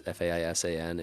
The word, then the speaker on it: Faisan: We went to a brewery called I'm not sure how to pronounce it, but I think it's Faisan or Faisan. It's Faisan. It means pheasant in French.